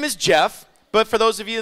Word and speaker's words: Geoff: I know I know my name is spelled GE 0 FF most people like dude g off I know apparently my